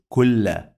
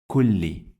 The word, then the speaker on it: كل: This is kasra, this is not fatha. Why? Because it is under the shadda. If I remove it from here and I add it here, so it is kulla, kulla, kulli, kulli. Clear?